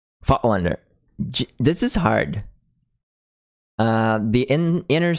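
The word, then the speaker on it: Voigtländer: For everyone, the correct way to pronounce Voigtlander is Fotlander. Fotlander.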